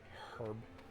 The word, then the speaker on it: herb: medicine lawyer more herb herb gotta pronounce the h i had wow feeling